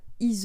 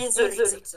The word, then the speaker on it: Yseult: Et voilà, donc c'était le court-métrage 5 femmes par Ise. J'espère que je me trompe pas dans la prononciation de ton nom. Alors non, on dit Isolite. On dit le L et le T.